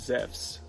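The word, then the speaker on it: Ζεύς: in videos is it instead of Zeus it is zephs zephs is how you would pronounce it in modern Greek so if you ever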